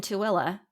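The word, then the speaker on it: Tooele: desire Peak Temple where I think it's in tuilla yeah you're right okay yeah why don't they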